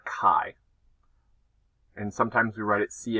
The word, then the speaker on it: chi: this class is the Ki Square test of Independence so first of all just a reminder that capital x is the Greek letter Kai and sometimes we write it Chi is not pronounced chai that is a synonym